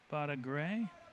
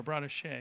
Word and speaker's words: Bada Shea: Bada Gray, I believe, is how that's pronounced. Or Bada Shea, excuse me, Bada Shea.